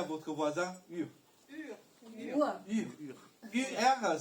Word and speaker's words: Ur: UR, ça se prononce Ur.